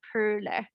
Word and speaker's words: Poehler: In German, I would say Perle. So, it's like you round your lips and say Perle.